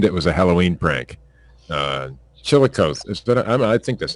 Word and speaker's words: Chillicothe: Chillicothe. I think that's how you say that. I'm from Ohio, and I don't even know how to pronounce that fucking thing. Chillicothe.